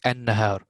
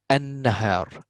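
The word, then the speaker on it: النهار: Like an-nahar, we do not pronounce the lam. I go from alif to noon. An-nahar, an-nahar.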